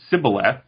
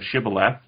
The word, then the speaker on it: Shibboleth: very well then say Shibboleth and if they pronounced it Cybil f instead of Shibboleth then they were executed because it's like a regional pronunciation difference mmm I know mr.